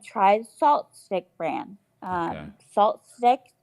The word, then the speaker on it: SaltStick: Salt Stick, just as it's spelled, SALTSTICK.